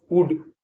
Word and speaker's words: would: WOULD, वुड, वुड माने जाएगा।